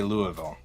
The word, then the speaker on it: Louisville: from Louisville he goes the way you pronounce Louisville is put a bunch of marbles in your mouth and then say Louisville it's okay I'm from